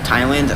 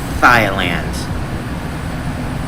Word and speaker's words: Thailand: I've lost my speech before Thailand. Nah, Thailand. I know how to pronounce it right. I just don't know why thigh came out of my mouth.